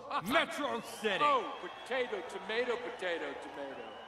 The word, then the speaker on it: Metro City: this is a day you and matrocity shall not soon forget it's pronounced metro city oh potato tomato potato